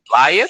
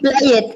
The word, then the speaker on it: played: Entonces, ¿cómo se pronuncia jugué en pasado? Yo jugué. Player. ¿Play it? Play it. No. ¿Play it? Yo no veo aquí la E. Play, He played.